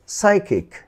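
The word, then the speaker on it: psycho: এরপর দেখো সাইকিক, সাইকিক এখানে কিন্তু পিসাই হয়নি, সাইকিক। এরপরে দেখো এই পেজে সর্বশেষ ওয়ার্ডটি সাইকো, সাইকো এটি কিন্তু পিসাইকো হয়নি, সাইকো।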